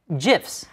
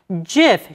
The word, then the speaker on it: GIF: for graphics interchange format which is pronounced with a hard G sound gif but the inventor of the gif has announced many times over the years that jiff should be pronounced ji f jiff like the peanut butter